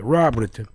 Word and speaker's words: Raubritter: Not Raubritter. It's Rob. Yeah. R-A-U-B, Rob. Yeah, Raubritter.